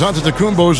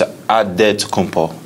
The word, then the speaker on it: Antetokounmpo: The Nigerian way, you gotta say it with a D, so it's Antetokounmpo. But in the Greek way, you say it with an NT, like Antetokounmpo.